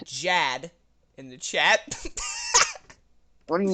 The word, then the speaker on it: Jad: friend kate just said jad in the chat what do you mean jazz that that's all she said j-a-d that was it what's your name dad rhymes with chad tad what's your middle name